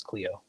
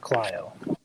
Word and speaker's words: Clio: second okay there's Joel it's Clio not Clio okay my bad I always pronounce it as Cleo but Clio all right yeah I